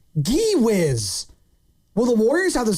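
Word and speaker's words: Gui: He says, not G-Wiz, it's spelled Gee-Wiz.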